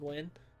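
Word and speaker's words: Nguyen: there's so many damn people named wynn you know it's spelled nagayan but there's like i've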